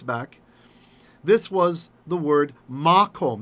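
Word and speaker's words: מקום: But what happens is when you have a long ah sound, just before the accented syllable, makom, makom, and then you move the accent further away, that ah becomes a schwa, just a little vocal schwa, So makom becomes mekom.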